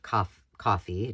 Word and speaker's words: Ko-fi: So my solution was something called Ko-fi or coffee, depending on how you pronounce it. It's ko-fi.